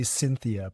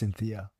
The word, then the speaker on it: Syntheia: It is supposed to be Syntheia, but it's spelled Syntheia because it's a portmanteau of two Latin words, synth, together, theia, knowledge, but pronounced Syntheia.